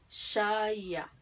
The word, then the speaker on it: shaya: Entonces, acá pronunciamos así, shaya. ¿Vale? Como les había explicado en los videos anteriores, esta se pronuncia parecida, ¿felei? Entonces sería shaya.